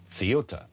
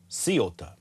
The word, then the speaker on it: Ceuta: Ceuta is pronounced Ceuta, or Ceuta, because there is that C, Cerveza, Thivesa, that thing, I think is the point that Testy...